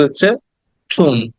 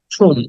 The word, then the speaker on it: tomb: fifty is টম এটাকে টম বলি আমরা কিন্তু হচ্ছে ঠুন উচ্চারণটা আসলে হওয়া উচিত ছিল ঠুম উটাকে টেনে বলতে হবে ঠুম ঠুম বি এর